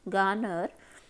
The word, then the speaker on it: garner: ये शब्द है आपके पास गानर। इसमें थोड़ा बीच वाला आर जो है थोड़ा साइलेंट रहता है, शब्द है ये गार्नर।